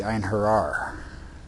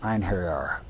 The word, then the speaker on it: Einherjar: But the hero warriors were called the Einherjar. That word, Einherjar, E-I-N-H-E-R-J-A-R.